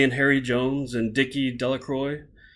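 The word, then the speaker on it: Delacroix: Harry Jones and Dicky delacroy the villagers pronounced his name delacroy eventually made a great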